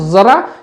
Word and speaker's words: जरा: और ये जरा है देखिए सिर्फ नुक्ते का फर्क है जरा और जरा जरा और जरा फर्क समझ लीजिए उच्चारण का भी तो इस जरा का मतलब संस्कृत का शब्द है जरा कहते हैं बुढ़ापे को